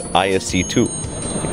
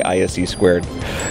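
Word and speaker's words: ISC²: says sspy and and Freddy coming out of Singapore says isc2 you will hear him say this we all understand what he's saying but but so we started razing him about it too saying well you know it's a dollar in the jar andless you say ISC squared so it's all it's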